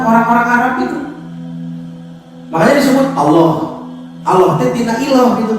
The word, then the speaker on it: Allah: Jadi ada pronunciasi O, ada vokal O, Allah. Padahal kan di dalam bahasa Arab tidak ada O.